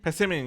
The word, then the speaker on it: Passimian: Passimian, yeah, you're right, Passimian.